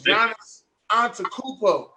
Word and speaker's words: Giannis Antetokounmpo: Or Giannis, or however you pronounce his name. Depot. No, it's Giannis Antetokounmpo.